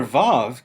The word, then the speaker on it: vav: This letter is often pronounced like V in valley.